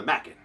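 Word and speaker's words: Machen: my favorite writers Arthur Mackin I often tell people it smacking like crackin not mocking like Dokken and now you can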